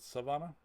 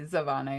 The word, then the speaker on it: Zavana: Is it Savannah? It's It's a Z. Zavana.